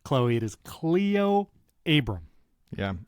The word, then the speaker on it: Cleo: Friday, and I highlighted a video from Cleo Abram, and for some reason, my brain kept saying Chloe.